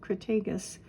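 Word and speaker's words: Crataegus: Hawthorne genus Crag cretus I think that's a hard G cragus and um I put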